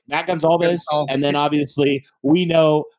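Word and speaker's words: Gonçalves: Yeah, so I heard the C is like a different pronunciation, so it's not what we've been calling Goncalves. I've heard Gonzalez, so kind of very close to Gonzalez. So Gonzalez is what I'm going to go with until I'm told differently.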